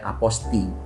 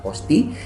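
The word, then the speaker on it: apostille: ada sistem yang namanya aposting tulisannya apotes bahasa Perancis bacanya posting Nah itu bisa dilakukan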